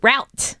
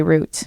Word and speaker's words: route: is gone root route I think in the US it's one of those words it could be either root or route but in the UK it's always root we yeah root I would say root speaking of I've got